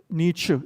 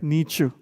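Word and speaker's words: Nietzsche: I just couldn't put the right font here the size but the name is Frederick Nichu it's pronounced as Nu not like Nichch in India like Nichu okay he's a great philosopher now he said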